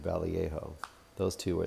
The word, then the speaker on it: Vallejo: Or Boris Vallejo. I think is how you say his name, Vallejo.